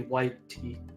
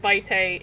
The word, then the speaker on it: vitae: And it would be whitey. Whitey. Yeah, AE is A, at least in like choir Latin. Okay. pronunciation. Either way, it's pronounced vitae in VTM.